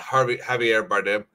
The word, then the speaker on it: Javier Bardem: Javier Bardem, that how you say his name? Yeah, Javier Bardem.